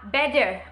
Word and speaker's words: better: T นี้จะอ่านแบบ T แท้ในกรณีที่2ค่ะเมื่อ T อยู่ระหว่างเสียงสระ2เสียง2ตัวนะคะอย่างเช่น better นะคะที่แปลว่าดีกว่านะคะในสไตล์อเมริกันเขาจะอ่านแบบว่า better นะคะเป็นตัว D เปลี่ยนจากเสียง T เป็นเสียง D นะคะหรือตัวอย่างที่2ก็คือ butter นะคะที่แปลว่าเนยคนอเมริกันเขาจะอ่านว่า butter นะคะหรือว่า water นะคะ water ที่แปลว่าน้ำเนี่ยคนอเมริกันเขาก็จะอ่านออกเสียงเป็น water